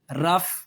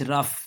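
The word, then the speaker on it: rough: तो क्या बन गए ओ यू जी एच अगर ये चारों किसी लफ्ज के साथ इकट्ठे आ गए इसी तरतीब से आ गए तरतीब खराब ना हो तो फिर ये चारों मिलके फे की आवाज देते हैं।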